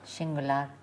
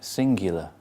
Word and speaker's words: singular: Singular. It's got a Y, like university. Singular.